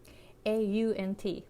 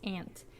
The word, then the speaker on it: aunt: word, for example, ant, A-U-N-T, my pronunciation is California pronunciation, so it's ant in California, but someone from New York might say aunt.